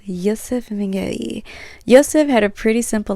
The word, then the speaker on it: Josef Mengele: Ysef Mingali spelled Joseph Meneli, but it's a German name, so it's pronounced Ysef Mingali.